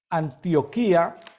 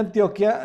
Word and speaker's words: Antioquia: Milena Zapata desde Medellín antioquía o Antioquia antioquía antioquía se pronuncia Antioquia el día de hoy